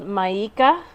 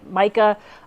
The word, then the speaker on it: Maika: the the brand is called maika and I think I'm pronouncing that right m-a-i-k-a-i Micah I don't know um making everyday